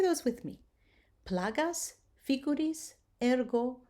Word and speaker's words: ergo: The hard G as in go, the rule is that